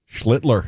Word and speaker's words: Schlittler: And then the night one is early against, I'm always nervous about, is it Schlittler? Schlittler, you nailed it.